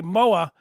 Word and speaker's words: Moa: Sorry, Shel say Moa. Moa, it rhymes with Noah.